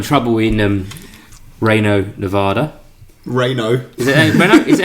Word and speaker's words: Reno: is now in trouble in um Reno Nevada reyno is it how you say it Deborah Jeremy Renner Reno Reno Nevada slow down Nevada this is your